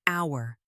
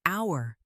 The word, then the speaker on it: hour: An hour. The word starts with H, but we say an, not a. Why? Because the H is silent. It sounds like hour.